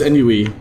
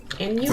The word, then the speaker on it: ennui: Should be more like Al, getting hurt by his ennui. Ennui? Sheer nothingness of life, Ennui. causing him pain. It's pronounced ennui.